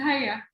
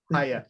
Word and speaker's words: Haya: I'm thinking in Circassian, and I see the Y, and my brain is pronouncing it as a W. Yeah, but my name is Haya. Haya.